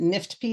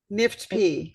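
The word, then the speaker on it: NIFTP: it's a well-behaving tumor is it Nifty is that how you say it nipped P yes and and what are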